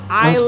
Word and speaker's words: island: The correct one is Island.